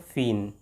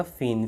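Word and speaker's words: feign: Next हम आते हैं फीन। यहाँ जी साइलेंट रहेगा। फीन, फीन का जो मीनिंग होता है, फीन का मीनिंग होता है बहाना बनाना।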